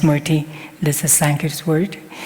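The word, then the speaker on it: स्मृति: The Sanskrit words is pronounced smriti. It's pronounced smriti.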